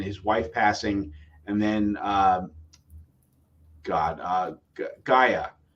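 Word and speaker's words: G'iah: wife passing, and then Gaia. I always wanted to say G at first because I saw hard G.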